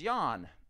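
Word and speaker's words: Jan: name was j-a-n and j-o j-a-n was the guy's name it was Yan and j-o was the woman's name her name was yo it's Yan and yo it was not you they don't even pronounce the J sound there and it's kind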